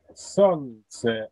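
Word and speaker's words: солнце: Son, on ne prononce pas le L.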